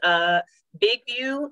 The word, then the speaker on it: BIGVU: I also use BigView. I believe it's spelled BIGVU.